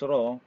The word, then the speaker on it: rho: the symbol rs or the Greek letter raw pronounce raw Uh is used to